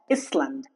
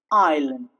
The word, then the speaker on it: island: Island. It's not iscland. Island. Okay.